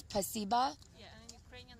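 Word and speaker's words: спасибо: In Russian, it's spasiba. In Ukrainian, it's дякую. In Russian, it's spasiba. Yeah, and in Ukrainian, it's дякую. That's completely different. It is different. Russian, it's spasiba, and Ukrainian, it's дякую.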